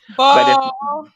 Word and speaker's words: Beaux: It's spelled BEAUX, like, like the old. Yes, or like, the word that they used in the old South for like a boyfriend, Oh, Bo, that's right.